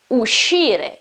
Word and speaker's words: uscire: Also in this case, the pronunciation, same rule as before. We have SC, we have E after SC, so it is uscire, it's not uscire.